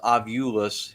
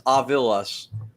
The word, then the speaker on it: Ovilus: It gets grouped into it, but like the Ovilus, which, by the way, 99% of the public says Ovulus. It's Ovilus, Ovilus.